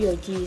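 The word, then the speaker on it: 四時: Selanjutnya, cara baca untuk jam 4 dengan jam 9 itu berbeda dengan bacaan lain. Jika jam 4 bacaannya yaitu yoji, sedangkan jam 9 bacaannya itu bukan kyuji tapi kuji.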